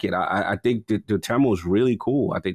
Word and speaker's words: Dotemu: I think the Dotemu is really cool.